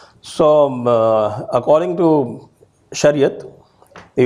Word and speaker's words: Shariat: I'll be using only the Urdu Persian pronunciation in my talk today. So according to Shariat, the Ummat is one,